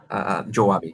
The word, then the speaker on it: Joabe: Is it pronounced Joabe? Joabe, yes, as Portuguese, Joabe.